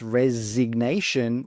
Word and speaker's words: resignation: But when we pronounce resignation, we do pronounce that g sound. So it's silent in resign. But it's not silent in resignation.